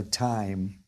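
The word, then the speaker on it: Thyme: time West clock yeah except it's spelled t y t y th yme so time that's why it's clever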